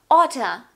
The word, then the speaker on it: oughta: Now, oughta and hafta. A stand for something very different here. To. So we have oughta instead of ought to. And hafta instead of have to.